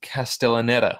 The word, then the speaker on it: Castellaneta: um let me like see if I can pronounce this correctly is it castellaneta yeah cast Dan castellaneta the the voice actor